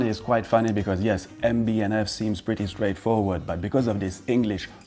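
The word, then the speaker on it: MB&F: will use the English version with the N, MB and F. Well, if you hear MB et F, well, you know that that person never heard about the brand before.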